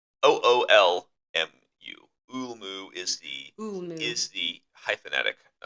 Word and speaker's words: Ulmo: Ulmu Ulmu. is the hyphenetic pronunciation. It's spelled Ulmo, but Ulmu is actually what I got was the proper way to say it.